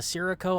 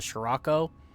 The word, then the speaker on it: Sirocco: I've heard people say this as the Sirocco. I'm pretty sure it's supposed to be pronounced the Scirocco, because I think it's an Italian word.